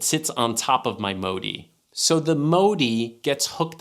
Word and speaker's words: Modi: me the most was this Modi yes that is how you say the company's name it's a pretty simple